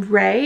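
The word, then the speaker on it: Wray: Okay, so the next thing on my list is from Ray. It's spelled W-R-A-Y.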